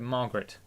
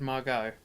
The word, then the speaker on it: Margot: Yeah, I thought Margot Robbie did a good job. Margot Robbie. Yeah, that's the actress's name. You said Margaret. I said Margot.